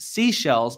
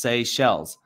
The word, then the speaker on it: Seychelles: there's an island called seychelles but it's often mispronounced seashells because of the way it's spelled people say seashells you know accidentally but it's actually pronounced say shells and what the lord